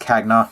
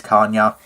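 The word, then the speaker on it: Cagna: copy of Kaa uh it is not pronounced kagna it is Kaa if you want to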